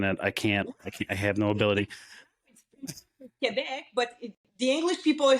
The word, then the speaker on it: Quebec: And I know I'm mispronouncing it. I have no ability. Quebec, but the English people are saying Quebec.